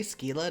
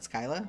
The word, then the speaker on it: Skylla: to meet you oh you say skila not Skyla I I do wild it works better with the accent in my opinion you need to use like a Spanish accent and pronounce those two L's like a y as well I mean